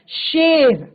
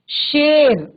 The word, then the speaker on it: शेर: शेर, शेर नहीं होता, शेर।